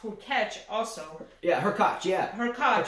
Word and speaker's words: Hurkacz: Hubert Hurkacz from Poland, and I heard it pronounced Hurkacz also.